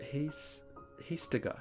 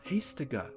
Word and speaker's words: Hastega: It's pronounced Hastega. Hastega. Oh, okay. So you need the te.